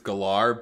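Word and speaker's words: Gellar: on guillard no i isn't that how you pronounce it i always pronounce it geller well i think i know she's she said on interviews it's gallare but i think i thought she was just being silly no no no when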